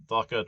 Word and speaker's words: Dhaka: to pronounce the it's it's spelled d h aka the h is pronounced so it's it's pronounced and uh also the d is retro flex uh so okay so